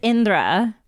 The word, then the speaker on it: Indra: It's Indra. If you're pronouncing it, if you're like a native Hindi speaker or you've been around like Indian accents your whole life, you should be able to say Indra. But I recognize that like